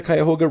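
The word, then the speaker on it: Cuyahoga: it wasn't it in the 70s that the Kyhoga River Did I pronounce that right?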